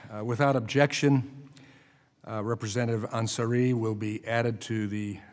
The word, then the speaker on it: Ansari: Anseri. Close. Ansari.